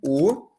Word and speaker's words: au: Então, quando é masculino, a gente usa a u o que a gente vai pronunciar como o porque tem som de o a.